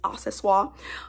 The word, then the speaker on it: accessoire: It also reminds me of the Louis Vuitton multi-pochette accessoire, which is spelled accessories, but in French it's accessoire.